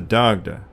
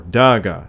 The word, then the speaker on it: Dagda: names though he is most commonly known as the dagda or daga in modern gaelic pronunciation medieval commentators generally believed